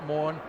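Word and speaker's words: Morné: time just a single pronouncing his uh first name wrong it's morning as in Lobster Monet rather than more and Alby is proving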